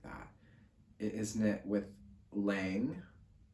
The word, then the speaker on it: Lang: It is knit with Lang, probably pronounced Long. I think it's a German brand, but I feel like I am used to hearing people say it with like an American accent, Lang. So whatever.